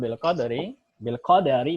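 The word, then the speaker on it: بالقدر: Wal imanu bil qadari bacanya dalnya fathah ya.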